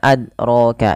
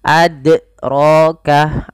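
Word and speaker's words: أدراك: itu kesalahan yang pertama kesalahan yang kedua menambahkan Hamzah dalam Qalqalah misalnya ad Roka ad nah ini menambahkan Hamzah tapi bagaimana cara yang betul dalam membacanya mengalir huruf dnya tidak ada tambahan Hamzah ataupun ee yang tadi tidak memantul w adroka adro rnya tebal karena dia ada fathah pada lafal huruf ro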